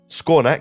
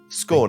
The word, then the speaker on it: Skawnak: could speak common sorry could you could you spell that name maybe scor yes it's SK a w n a k scor thank you very much and his little